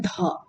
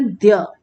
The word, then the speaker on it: द्य: इसका प्रोनाउंसिएशन बहुत सारे बच्चे करते हैं ध, बिल्कुल नहीं, ध का प्रोनाउंसिएशन नहीं है, ये एक नया अक्षर है, ये संयुक्त अक्षर, इसमें दो अक्षर मिलके बने हुए हैं, है एक्चुअली ये, इसका प्रोनाउंसिएशन है द्य।